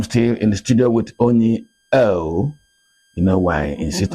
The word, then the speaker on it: Onyi Ough: I'm still in the studio with Onyi Ough. You know why I insist on pronouncing that word very well so that you understand who she is. Onyi Ough is the founder of Step Up Nigeria.